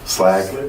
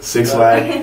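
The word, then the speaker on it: 6LACK: I 6, how do you say it? Black? Slack? Slack. Six Slack.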